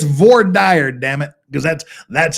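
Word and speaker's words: voir dire: V dire as we say in Utah the V deer as Fufu you know people that pretend to know Latin pronounce it it's VOR dire damn it because that's that's how we pronounce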